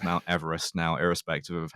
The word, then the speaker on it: Everest: Pronounced his name Everest, and one of the